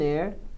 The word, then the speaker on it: heir: hour, um herdeiro, an heir, uma honra, an honor, uma pessoa honesta, an honest person. As palavras hour, heir, honor e honest são as únicas 4 palavras no inglês que o H é mudo.